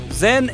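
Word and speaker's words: 甄: le nom de canton Zen est la prononciation du nom de la fille de la dialecte Pékin tandis que la famille yen et la prononciation cantonnaise le père de la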